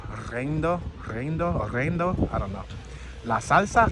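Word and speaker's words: riendo: All right, I'm gonna say it like an American. Reindo, R-I-E-N-D-O. But I think you're supposed to pronounce it with an accent. Reindo.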